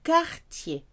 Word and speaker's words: quartier: A neighbourhood is quartier. Remember, QU is a K sound. So whenever you see Q, replace it with a K for the right pronunciation.